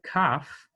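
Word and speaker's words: ק: in the middle and when it has the dot in the middle it has the hard pronunciation when it does not have the dot in the middle it is pronounced um with the uvular the voiceless uvular fricative so that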